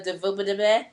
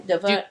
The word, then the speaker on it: DuVernay: Come on, Tyler Perry, Ava DuVernay, how do you pronounce her last name? DuVernay.